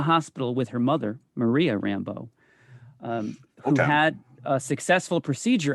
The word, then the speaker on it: Rambeau: I've been saying her name wrong for the last 30 years, by the way. I think I've been putting too much of a French spin on it. Rambeau. And they just call her Rambeau.